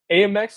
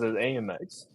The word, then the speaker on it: Amex: don't know I butt Amex well I think it's more syllables the way you say it AMX AMX Amex AMX you're right yeah you got an extra Soul I'm wasting I'm wasting